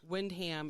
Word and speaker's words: Windham: k m's wyndham yes windham it's spelled wind ham smoosh them together and say that's the way these new england people say things yeah so what was